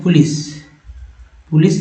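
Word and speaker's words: police: जैसे आप लिखते हैं पुलिस लिखते हैं तो सी को स बोलते हैं।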